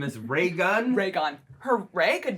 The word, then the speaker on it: Raygun: It's Ray Gun. Like one word, like Ray Gun. Yeah, Reagan.